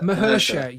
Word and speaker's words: Mahershala: How do you pronounce his name? I don't want to butcher it. Mahershala.